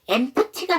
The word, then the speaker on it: empty: 자, 그 다음에 이게 empty가 맞아요. 근데 empty이기 때문에 이 두 번째 자음 P를 안 하는 거예요.